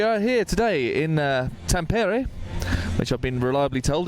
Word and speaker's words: Tampere: and uh we are here today in uh Tampere which I've been reliably told is the pronunciation of this particular town in Finland which